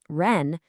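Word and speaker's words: 人: Let's move on and see how this one simple character, ren, becomes the foundation for even bigger ideas.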